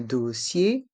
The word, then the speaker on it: dossier: Et les lettres E et N se prononcent un examen médical, un dossier médical. Dans le mot dossier, les lettres IER se prononcent IE, dossier, un dossier médical.